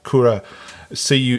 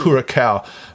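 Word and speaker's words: Curaçao: dutch or portuguese but it's pronounced kura c it's spelt c-u-r-a and then there's a c-o-a so what happens in the australian dialect is that there is a a bias towards pronouncing your c's hard right so kura cow but in the actual vernacular i believe it's called a shao which is sort of like an x so it's like the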